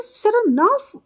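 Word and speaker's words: Saranoff: He pronounces the name with the stress on the second syllable, सरनाफ।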